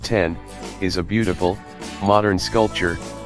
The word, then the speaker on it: X: The X, pronounced 10, is a beautiful, modern sculpture, and iPhone owners finally have a reason to show off their phones again.